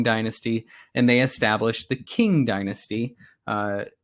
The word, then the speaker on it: Qing: and they established the King Dynasty uh it's it's spelled with a Q there but it's pronounced like king with a k um the King Dynasty